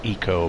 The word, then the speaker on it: ICO: It's all a little bit ICO around here. Yeah. Apparently should be pronounced eco, but I can't bring myself to that.